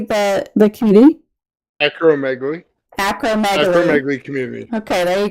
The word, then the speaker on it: acromegaly: Acromegaly. Acromegaly community. Okay, there you go. That's probably how I would have pronounced it, but you never know.